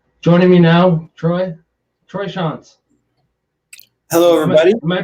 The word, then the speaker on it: Shantz: about his so joining me now troy troy sean's hello everybody am i pronouncing that right yeah uh sean's exactly you you do hear chants a lot and yeah i do yeah well